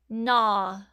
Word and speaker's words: gnaw: Now people used to say gn, but we have dropped that G sound and just say N even though we spell it with the G.